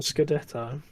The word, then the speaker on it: scudetto: The Scudetto.